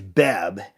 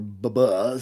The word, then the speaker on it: Beb: So yes, I do want to be pronouncing his name correctly, because my name's Beb, and I don't necessarily want people pronouncing it Beeb or Baba.